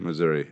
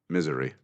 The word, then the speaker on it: Missouri: you pronounce it Missouri or Missouri? Missouri. I actually pronounce it misery.